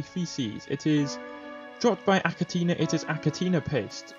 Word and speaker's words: Achatina: So I'm pretty sure that's how you pronounce them anyway, Achatina. According to Google Translate, it's Achatina. It says Achantina, Achantina, Achatina. Either way, there's something like that.